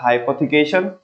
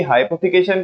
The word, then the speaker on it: hypothecation: Mortgage, M, उसको में T silent रहता है, MORTGAGE, मॉर्गेज। दूसरा हाइपोथिकेशन, और एक ये आपने कोलेटरल बोला, ठीक है ना। किसकी? हाइपोथिकेशन की, HYPOTHECATION, हाइपोथिकेशन, ठीक है ना।